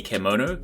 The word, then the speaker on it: kemono: threat caused by the kemono kimono is basically the name they are using for the characters sounds kind of like kimono only spelled with an E so kemono is basically